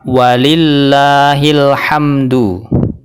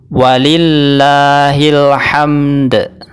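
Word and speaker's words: ولله الحمد: fatal dan berubah makna jadi ketika takbir enggak boleh ya diwakafkan dengan bacaan walillahilham yang benar adalah walillahilhamd walillahil hamd jadi qalqalahnya tetap dibunyikan jadi ketika wakaf lafat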